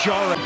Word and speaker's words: Šarić: Šarić.